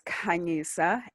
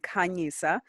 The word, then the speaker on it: Khanyisa: come from amazing so my name is kanyesa and that's actually how you say my name kanyesa but i'm gonna forgive everybody who uses their accent to say it um i'm from south